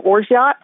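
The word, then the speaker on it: orgeat: quarter of like a quarter ounce of your orot if you don't have orot or you can't find orot and that's spelled o r g e a um or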